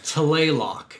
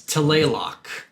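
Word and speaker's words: Tlaloc: playlock toylock yeah no talaylock because it's t l it's not oh yeah you're right it's telelock t but i think they really don't pronounce that t it's like playlock like it's really weird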